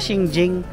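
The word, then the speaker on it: 清境: Ganon pala pagbigkas sa kanya. Shingjing yung queue.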